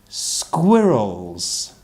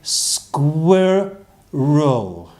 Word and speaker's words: squirrel: and and they're called squirrels and so if you say square Rho square Rho squirrel can you say that's